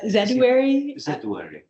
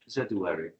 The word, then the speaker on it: zedoary: The first information on Galangal and Zedoary, how do you pronounce the other Zedoary? Zedoary. Zedoary.